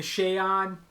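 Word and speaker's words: Shaod: it yeah the shayad the shayan is how i've heard it pronounced before yeah i think that's actually the correct pronunciation it's cool we make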